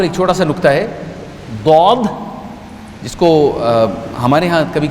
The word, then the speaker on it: ضاد: میرے استاد نے مجھے ضاد سکھایا تھا جو کہ دال اور زائی کے درمیان کا ایک تلفظ ہے, لیکن اگر آپ کو کہیں کوئی ضاد کہتا ہوا سنائی دے